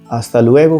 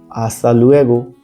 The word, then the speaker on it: hasta luego: मिलेंगे उदाहरण के लिए आस्ता लुएगो कार्लोस फिर मिलते हैं कार्लोस ध्यान रखें कि इसमें एच का उच्चारण नहीं होता एक बार फिर से बोलते हैं आस्था लुएगो बहुत बढ़िया नेक्स्ट है